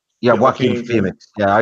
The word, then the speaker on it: Joaquin: Is it Joaquin Phoenix, right? Yeah, Joaquin. Yeah, Joaquin Phoenix. Yeah, you don't pronounce the J in it.